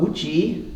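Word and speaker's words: 無極: But more frequently they talk about Wuji, this is really a great word, Wuji, whoops, bad spelling, Wuji, J-I, both rising tones. And if you write it in Chinese, Wuji, it's pretty high.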